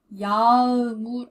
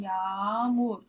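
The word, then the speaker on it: yağmur: 여기 없다고 생각하시고, 야무. 야음울 아니고 야물 길게 하시면 되고요. 연습 많이 하면은 익숙해지실 겁니다. 그리고 참고로 이렇게 한글로도 써봤습니다. 야우루라고 써봤는데요. 원래 발음은 야물입니다.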